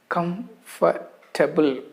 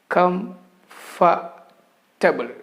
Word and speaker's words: comfortable: correct way of pronunciation come for table there are three syllables come fa table in between the letter r is silence we do not pronounce that letter r very often the letter